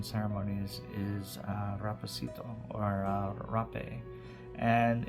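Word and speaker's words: hapé: So another um tool during such as like pawashka ceremonies and different um South American ceremonies is uh rapacito or rape and it's spelled h a p e and basically it's a uh and I'm not promoting tobacco to anyone.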